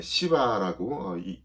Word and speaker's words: 시바: 표본이 되었죠 자 그런데 시바라고 발음을 잘해야 됩니다 시바 시바라고이 사람이 배신을 합니다 무의붓에서 속인